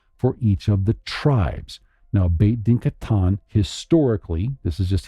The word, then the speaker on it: Beit Din: So it says a Beth, actually Beit Din. Romanized is Beit Din, is literally a house of judgment. So the Ashkenazim are going to say Beis Din because they have a different pronunciation.